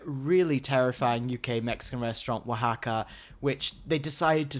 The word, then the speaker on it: Oaxaca: Okay, I was in Mexico City, but for Day of the Dead, I went to Wahaca. Now, we're already veering off. For UK listeners, Wahaca is spelt Oaxaca.